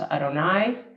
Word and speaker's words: Adonai: as letters of probably the most mysterious of Jewish names for God, often pronounced Adonai, translated as the Lord.